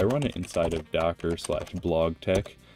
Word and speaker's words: BlogTeX: it inside of Docker blog Tech that's the official pronunciation pronunciation for you guys out there and um